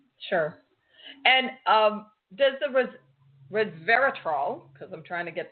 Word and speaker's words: resveratrol: of the the coffee itself and you did pronounce it perfectly resveratrol and yeah it's a great question it turns